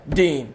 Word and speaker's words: Dean: gel Dean Thomas you I thought it was I know I you would think it was Den like just look at it d n how do you pronounce that Dean d what yeah no